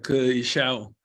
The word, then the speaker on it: Ke Xiao: bueno, entonces ese nombre se pronuncia Ke Xiao y Ajá.